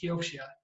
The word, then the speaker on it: Kioxia: in just in case kyoshina doesn't ring a bell we were toshiba but the way you pronounce it is kyochia everyone gets it wrong don't worry all right